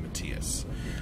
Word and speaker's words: Matthias: Second syllable is emphasized in Matthias.